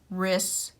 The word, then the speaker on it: wrists: we'll read it correctly his wrists hurt from wrapping the present and that way kids can hear that we do not say the w in w r words it is actually silent this is the template